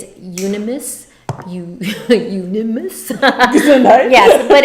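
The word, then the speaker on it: Euonymus: I had to look up how do you pronounce it's ununimus. You unimus.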